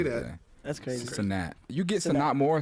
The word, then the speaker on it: Cenat: Cenat. Right? Cenat.